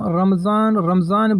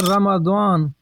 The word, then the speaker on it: رمضان: ذہن میں رکھیں کہ یہ جو ہم رمضان بولتے ہیں، رمضان کا صحیح تلفظ یہ نہیں ہے، بلکہ اس کا درست تلفظ جو قرآن و احادیث میں استعمال ہوا ہے وہ ہے رمضان، یعنی میم پر زبر ہے رمضان، اس لیے ہر زبان